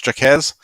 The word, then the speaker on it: Jacquez: know his name is looks like it's spelled or pronounced jocks but is jacquez uh i will get